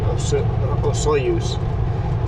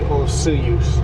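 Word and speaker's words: Osoyoos: I learned the town by pronouncing it oyos. But I think majority would be osuyus. So I'm going to try to pronounce it osuyuse.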